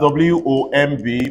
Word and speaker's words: womb: it soon one more time if I have w-o-m-b pronounce this again it's going to be long everybody